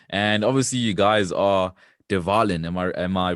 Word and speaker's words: De Wallen: And obviously, you guys are de Wallen. Am I pronouncing it correctly?